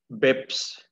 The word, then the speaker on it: BACPS: বেলা 1টায় এইটা এই বেক্স উচ্চারণটা BACPS, বেক্স Bangladesh automated check processing সিস্টেমে উপস্থাপন